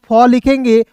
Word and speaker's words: fall: उसके बाद देखिए यहाँ पे एफ का दोस्तों फॉ लिखेंगे, और ए डबल एल है तो इसका उच्चारण ऑल के रूप में करेंगे, तो FALL फॉल, ऑल के रूप में उच्चारण करेंगे, ठीक ना, FALL फॉल।